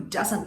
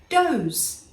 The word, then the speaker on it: does: or it could be d-o-e-s dose the plural of a female deer m-i-n-u-t something we use